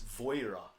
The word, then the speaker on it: Vajra: you met and I found out how to pronounce this name properly. It's Voira, apparently.